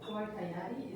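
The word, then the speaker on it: Gualtallary: So if I pronounce it Guaytayari, is wrong pronunciation? No, that's good.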